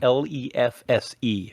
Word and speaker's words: lefse: I haven't had them in a number of years, but I'm Um, lefse. That's spelled Lefse for anyone who's curious.